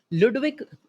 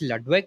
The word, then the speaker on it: Ludwig: Ludwig Wittgenstein. I thought it's Ludwig, but it's Ludwig.